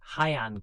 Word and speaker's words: Heian: The move marked the beginning of the Han period, pronounced Hayan.